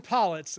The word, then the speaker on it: Pollitz: pronounced your last name one more time so i just don't butcher it collets pollits the dean of library affairs at southern illinois